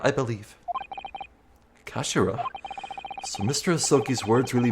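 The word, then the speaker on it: 頭: end of the hilt it's written as head in Japanese but is pronounced as Kashira I believe Kashira so Mr ahi's words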